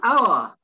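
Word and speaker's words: hour: the h honest then the next one our silent h our then the next one is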